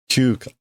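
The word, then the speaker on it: 休暇: Q, and that's Hima, which is pronounced Kyuka? Kyuka.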